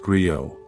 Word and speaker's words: griot: To explore this with wisdom, we travel to West Africa, to the ancient tradition of the griot, pronounced griot.